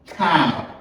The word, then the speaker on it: cow: Cow. Est-ce que déjà me dit cow? C'est comme si c'était un A là. Ou à prononcer comme A là.